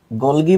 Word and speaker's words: গলজি: আচ্ছা, ইতোমধ্যে ফারহানা তানিয়া কমেন্ট করেছে গোলগি বডি আর গোলজি বডি কি আলাদা? না, মোটেও আলাদা না। উচ্চারণ কেউ গোলজি করে, কেউ গোলগি করে। তার মানে তুমি গোলগিকে গোলজিও লিখতে পারো, জও লিখতে পারো, একই জিনিস।